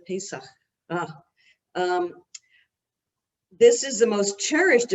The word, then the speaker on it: Pesach: It's Pesach, and that's how you pronounce it, Pesach.